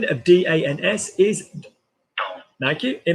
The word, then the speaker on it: dans: Pronunciation of DANS is Dans.